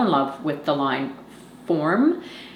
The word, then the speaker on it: Forme: Form is how you pronounce it, and it's spelled Forme.